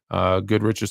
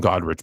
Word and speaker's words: Goodrich: You got Gail Goodrich's 25. I always call him Godrich, by the way. I don't know why I know it's Goodrich, but I always call him I always get everybody's name wrong.